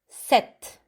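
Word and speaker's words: sept: we keep going with set set you see here the pronunciation don't try to save a p ignore the p you say set set set very good the next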